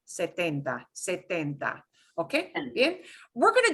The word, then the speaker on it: setenta: So the pronunciation is a little softer on the T. Setenta, setenta.